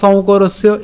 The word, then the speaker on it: সংকরস্য: তা আমরা বাংলায় উম বলছি, কিন্তু সংস্কৃত উচ্চারণ করতে গেলে এর উচ্চারণ হবে উ। তো আমরা এই যে একে যদি ভাঙাই তাহলে উচ্চারণটা হবে সৌ, সৌ, ঠিক আছে, নট সং, ঠিক আছে, সৌ। তাহলে সৌ করস ইয়, করস,